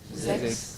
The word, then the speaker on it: sechs: So S, how are we pronouncing S? Z. Z, no? We are pronouncing like Z. Z, V heißen Z, isn't it? Yeah, woher kommt Z? So it is sechs and sieben when it is in the beginning.